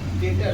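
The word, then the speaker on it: debtor: डी ई बी डे D eight डेप्टर पढ़ता था वो। लेकिन वो बेसिकली इसका प्रोनंसिएशन क्या है? डेटर है। क्या है? डी यहां पे साइलेंट हो जाता है एक तरीके से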